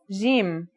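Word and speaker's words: جيم: our first letter is Jim this one is easy to pronounce it's somewhere between a g and a j depending on the accent for example Standard Arabic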